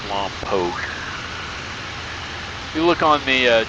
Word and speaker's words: Lompoc: It is pronounced Lompoc.